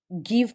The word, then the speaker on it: Gieve: और हमारी दूसरी कविता के लेखक गिव पटेल थे। सही? Gieve की स्पेलिंग याद रखें।